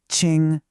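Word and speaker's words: 青: This is Ching and it's pronounced Ching.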